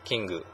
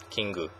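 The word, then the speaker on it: キング: king and queen um this one is pronounced kingu kingu so all three of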